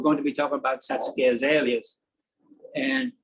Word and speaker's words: Satsuki: Second thing, we're going to be talking about Satsuki azaleas. And it's not Satsuki, it's Satsuki. The U is 98% silent.